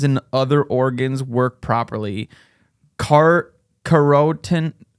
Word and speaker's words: carotenoids: Carotenoids. How do you say that? Carotenoids. Carrots. It looks like the word carrot, but with anoids at the end.